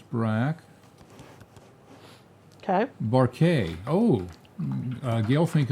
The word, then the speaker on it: Braque: Well, if you guess George Braque, you give yourself 1,000 points.